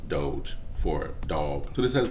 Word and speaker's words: Doge: should you dump your whole life savings into dojo coin dogecoin doggy corn whatever you call it it's actually pronounced doge for dog so this has been one of